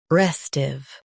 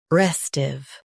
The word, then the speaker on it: restive: restive Now read the syllables shown on the screen naturally. res tiv restive Stress r e s and keep tiv light.